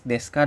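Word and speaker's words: です: bla Des gitu ya Ini dibaca Des Ya bukan desu ya dirilisnya memang desu tapi dibaca Des ya Nah partikel wa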